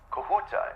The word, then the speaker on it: Kahuta: Kahuta, is that the correct pronunciation? Am I saying that right? Yes.